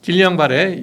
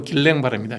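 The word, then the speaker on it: Guillain-Barré: 자, 길량발의 영어식 발음이고 길랭발입니다.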